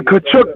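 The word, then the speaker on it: Tkachuk: How do you pronounce that? The Kachuk brothers.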